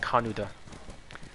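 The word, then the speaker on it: Kaneda: It's supposed to be pronounced Kanuda.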